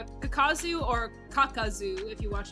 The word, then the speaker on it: Kakuzu: no Z not K kakazu or kakazu if you watch it in English um in Japanese it's kakuzu um but like I've I've